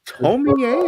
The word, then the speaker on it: Tomie: Do you say Tomie?